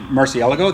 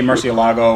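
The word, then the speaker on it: Murciélago: A lot of people have issues with me saying it Murcielago. That's actually how you say it in Spanish. But people in the UK say Murcielago or whatever. There's no right or wrong way to say it, honestly.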